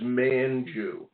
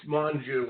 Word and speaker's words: Manu: I'm from Philadelphia so I was pronouncing your first name as Manu which is exactly the way of Philadelphia would say that okay so I want everybody know it's Manu okay I just want